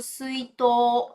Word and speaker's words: 水筒: Presta atenção aqui também na pronúncia do suito. Tá vendo? Olha só. Suito. Esse to, tá vendo que ele tá prolongado? Esse u aqui no final, que ele é um prolongamento, né?